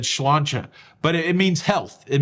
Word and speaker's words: sláinte: yeah, they were Irish, they would say sláinte, which is spelled like this, but I think it said sláinte.